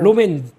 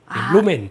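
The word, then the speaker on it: rom&nd: 로맨, D는 묵음, 로맨.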